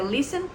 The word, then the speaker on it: listen: Listen que a escuta que se escreve Listen com temas a gente pronuncia Listen que inclusive é uma